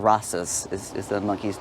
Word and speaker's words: Rastus: If you Google it, you'll see photographs of her with this monkey called Rastus. Is the monkey's name? How do you spell it? Like Rasta, just with an S at the end.